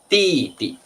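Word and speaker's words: 弟弟: younger brother 弟弟 remember the pronunciation should be first tone light tone 弟弟 first tone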